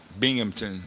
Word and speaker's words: Binghamton: Yeah, they pronounce it Binghamton up there in upstate New York.